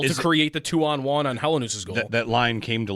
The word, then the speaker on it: Helenius: Yeah, use. The word use. Helenius. In the second part. 3 syllables. He said it. It's Helenius. Helenius.